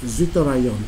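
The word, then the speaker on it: zwitterion: we call it as what we call as zorion in here okay so the pronunciation is w i z TT IO n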